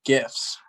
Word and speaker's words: GIF: They're GIFs. GIFs with a hard G.